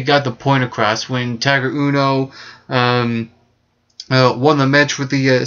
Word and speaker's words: Tiger Uno: Also, we saw the debut of Tiger Uno. I think it's pronounced Tigger Uno or Tiger, something weird like that.